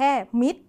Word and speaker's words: มิตร: อ่าน ออก เสียง เนี่ย เรา จะ อ่าน แค่ มิด เฉย ๆ เรา ไม่ ได้ ต้อง อ่าน ตัว ร ด้วย นะ คะ แต่ ว่า เวลา เขียน